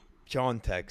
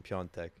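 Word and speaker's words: Piątek: but but Christopher yeah John Tech sorry the proper pronunciation piontech uh who is who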